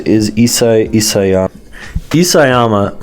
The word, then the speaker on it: Isayama: Isayama, I think I'm pronouncing it is Isayama. Isayama, right, is a master at gaslighting.